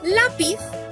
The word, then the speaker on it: lápiz: Por ejemplo, en la palabra lápiz, la sílaba tónica es la penúltima, que es la.